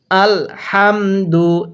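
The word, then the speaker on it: الْحَمْدُ: আল হা মিন জবর হাম দাল পেশ দু আল হামদু এরকম ভাবে শিখবো এরপরেও লাম জবর ওয়াল ফা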